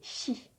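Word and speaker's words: し: Il n'y a pas de si. Ça va se prononcer chi.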